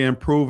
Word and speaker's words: Impruve: Yeah, and check out Mike's company, Impruve, and that's spelled IMPRUVE.